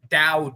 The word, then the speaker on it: Dao: So it's basically spel it's pronounced like d o w.